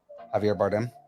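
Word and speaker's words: Javier Bardem: And you know how H how Javier Jav Yeah. Javier. Did I say it wrong? Yeah. Javier Javier Bardm. Javier Bardm.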